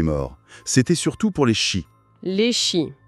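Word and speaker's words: sí: C'était surtout pour les chis. Les chis. Oui, S-I, accent aigu, prononcé chi.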